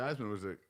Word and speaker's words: Theismann: always reminding you that it is Theismann. Every broadcast. Joe Theismann. His name is Joe Theismann. It's Joe Theismann. And he changed it to rhyme with Heisman his senior year, and he didn't win it.